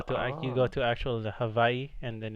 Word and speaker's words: Hawaii: like H Hawaii isn't Hawaii it's Havi like with a V hav Havi man why'